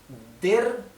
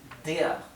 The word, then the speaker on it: der: La terminación vocal, la terminación ER en alemán se pronuncia EA. EA, ¿bien? O con una R apenas perceptible. Por lo tanto, der, ¿sí? En alemán se pronunciaría der, donde pueden pronunciar la R apenas perceptible, o si no, simplemente no la pronuncian, que suena casi igual.